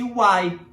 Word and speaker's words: why: W-H-Y pronuncia-se Y.